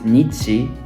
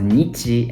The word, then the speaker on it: 日: times in this world the first one is written is is pronounced as Nichi and the latter one later on uh it's pronounced as B so um they they